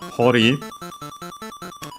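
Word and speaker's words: 堀: In this case, hori, even though it would use a different kanji, similar, so unsurprisingly also related, accent on the last more as typical, as we mentioned, the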